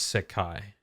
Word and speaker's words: Sekai: Now, um I haven't seen the scans for myself, but everybody has said it's Sakai. It's S E K AI. Um it's three syllables in Japanese.